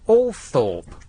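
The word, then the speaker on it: Althorp: know the nonuse yeah why is a l t h o r p all thr it's TCH it isn't it's all Thorp what was it in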